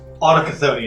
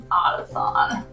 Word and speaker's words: Autochthonia: Autochthonia is what I should have said. Yeah, that's why I took a moment. I was like, wait a second. Autothon.